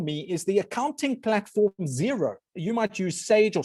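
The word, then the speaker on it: Xero: the most for me is the accounting platform zero you might use sage or soft line or whatever you use we use zero x e r o i always laugh in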